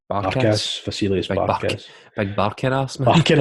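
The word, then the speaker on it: Vasilis Barkas: Barkas, Vasilius Barkas.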